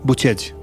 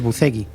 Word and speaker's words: Bucegi: Montes. Buchech. Buchech. Es que yo hablo romano. Vale, claro, eso te iba a decir. Tú que sabes romano y de vampirismo, lo pronuncias bien. Vunaata. Fantástico. Yo iba a decir Montes Bucegui. Sí, bueno, sí se puede decir así.